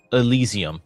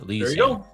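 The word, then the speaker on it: Elysium: First one up is uh Oh, Ellesium. That's how you say it. Elisium.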